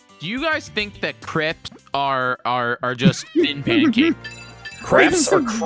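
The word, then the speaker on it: crêpes: If you're America, then yeah, it's crepes. But crepes is the correct pronunciation.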